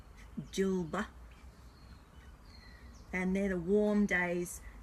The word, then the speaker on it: Djilba: And then we've got, I'm going to spell it, DJILBA. So it'd be Jilba.